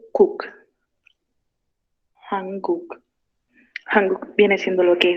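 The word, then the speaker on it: 한국: Tanto acá voy a ir sílaba por sílaba, ¿ok? Lo que es Corea, acá primero Han y Cook. Hanguk.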